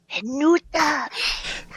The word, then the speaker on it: Venuta: Venuta. It's 3 syllables.